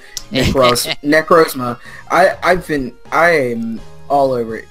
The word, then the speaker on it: Necrozma: Also, it just occurs to me that I've been saying the name wrong. Necrozma.